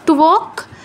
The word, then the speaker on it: ত্বক: তারপর ত্বক, তয়ের নিচে ও, তো তয়ের নিচে ও থাকায় ওটা পূর্ণ উচ্চারণ হবে ত্বক।